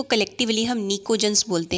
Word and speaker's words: pnicogens: Group 15 में नाइट्रोजन, phosphorus, arsenic, antimony और bismuth होते हैं, और ग्रुप 15 को कलेक्टिवली हम निकोजन्स बोलते हैं। पी साइलेंट है, PNICOGENS, निकोजन्स।